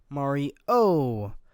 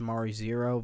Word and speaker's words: Mari0: frankly very tired evan mari oh or according to the wikipedia it's supposed to be pronounced mario zero but i don't like that as much so i'm going to call it mario is a faithful recreation